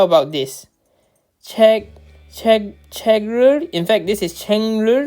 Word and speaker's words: 책을: Okay, checker is the correct way. How about this? Checker.